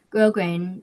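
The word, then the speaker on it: grosgrain: Grog grain.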